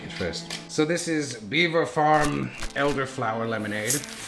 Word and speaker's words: Belvoir: give this a two this is spelled Belvoir but I have been informed it's pronounced Beaver actually so this is